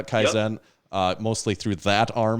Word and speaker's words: kaizen: that's mostly through is is it keyson do i pronounce that correctly or kaizen i did yeah kaizen uh mostly through that